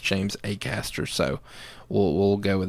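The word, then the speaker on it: Acaster: James a Caster is his name it's not at Castro I thought it was actually but apparently it's pronounced James a Caster so we'll we'll go with that moving forward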